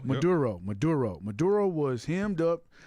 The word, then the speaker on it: Maduro: Maduro. Maduro.